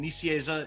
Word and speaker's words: Nicieza: freelance work for other publishers um today fabian nissieza is on our show how are you doing